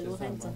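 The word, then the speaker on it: Lorentzon: Peut-être je ne prononce pas bien, mais c'est Lorenzon.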